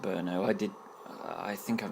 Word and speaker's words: Brno: it's felt B I know but it's actually pronounced Brno I did I think I've mentioned this on